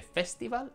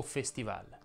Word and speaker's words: festival: e quindi certamente chiusa si dice festival o festival si può dire in entrambi i modi ma l'accademia della crusca